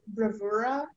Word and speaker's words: bravura: The word can be pronounced bravura, bravura, bravura, bravura, bravura, bravura, bravura, bravura, bravura, bravura.